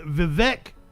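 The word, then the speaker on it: Vivek: during this this is vivec Grandma Swami and apparently his uh name rhymes with cake Nicole welcome this morning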